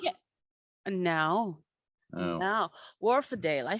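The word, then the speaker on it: Wharfedale: Warfield? Yeah. No. Oh. No. Warfadale.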